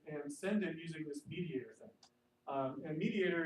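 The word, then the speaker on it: MediatR: Is the tool actually spelled without the O? Yeah, it's like Flickr. It's Okay, it's Web 2.0. So yeah, it's Mediator.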